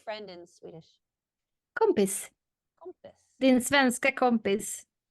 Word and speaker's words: kompis: kompis. Kompis. Din svenska kompis. Like a compass, like north, south, east, west? No, but that's cool. No, kompis. K-O-M-P-I-S.